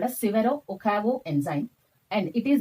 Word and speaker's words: Severo: form next another person severo i pronounce this one as sivero okay you can pronounce